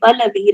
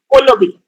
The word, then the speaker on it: Pallavi: So okay, so as I have told you, my name in general English would be Pallavi, right? But people speaking Odia or Bangla would be spelling it out or pronouncing it as Olobi.